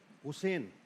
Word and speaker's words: حسین: جب بھی بات کرو حضرت حسین علیہ السلام کا جب بھی نام لو, حسین اندر سے نکلنا چاہیے, حسین نہیں حسین, یہ اس کا اصل تلفظ ہے.